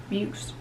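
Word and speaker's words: Beukes: The 4th book I read, in the last physical book that I read, is The Shining Girls by Lauren Bukes. That's how you pronounce her last name.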